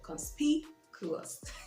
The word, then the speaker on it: conspicuous: Okay, the word for the week from the vocab spot, as you can see, is conspicuous. Conspicuous. And the stress is on the second syllable, conspicuous.